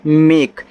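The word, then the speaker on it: make: जैसे ए के बाद अगर एक लेटर छोड़ करके ई है, जैसे यम ए के, इसको पढ़ते हैं मेक, यहाँ ए का उच्चारण ए की मात्रा के रूप में होगा।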